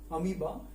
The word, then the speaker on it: amoeba: तो उस एनिमल का नाम है अमीबा, AMOEBA, जहां पर ओ साइलेंट है, अमीबा।